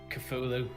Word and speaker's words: Cthulhu: So I'm going to say, how did you pronounce the proper word, Richie? Jokes aside. Cthulhu.